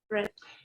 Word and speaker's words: read: Red. Exacto, se pronuncia idéntico al color rojo, red.